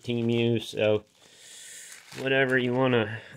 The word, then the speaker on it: Temu: shop like a billionaire TAMU or teu whatever you want to call it I think they pronounce it TAMU on the television everybody I knew calls it teamu so whatever you want